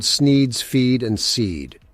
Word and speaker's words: Sneed: The shop is called Sneed's Feed and Seed, where feed and seed both end in the sound "eed," thus rhyming with the name of the owner, Sneed.